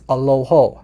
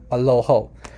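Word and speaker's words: ܐܠܗܐ: say God um so you'll notice that in the other dialect the word for God is Allah this dialect is aloho aloho so if you guys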